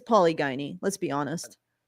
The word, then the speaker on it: polygyny: It's it's polygyny. Let's be honest. Polygyny. Yeah. It's polygyny.